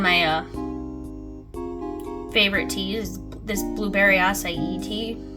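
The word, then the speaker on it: açaí: And for the longest time I was saying acai, and then my sister pointed out that it was acai, and I felt like an idiot because I was saying it wrong for so long.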